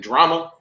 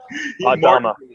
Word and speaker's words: Dhamma: Mark, I always say your name wrong. Mark, your last name drama. I call you Mark Drama. Mark Dama. Close, bro. Dama, high performance health and mindset coach.